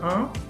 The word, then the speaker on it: en: Entonces, esto se pronuncia un.